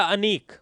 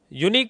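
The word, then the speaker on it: unique: इस वर्ड को क्या बोला जाता है? यूनिक या अनीक? यूनिक अगर अनीक बोलते हो तब तो एन आएगा और यूनिक बोलोगे तो ए आएगा। अब बताओ इस स्पेलिंग को क्या बोलोगे आप? यूनिक बोला जाएगा।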